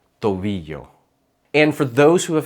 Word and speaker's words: tobillo: Double L sounds like the letter Y in the word yes, but it's shorter and clearer. Llamar, llegar, rodilla, tobillo.